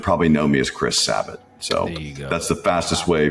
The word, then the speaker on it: Sabat: just became Sabbath it should be zabat s z B- a t M but it just became sabbot at some point and I jok that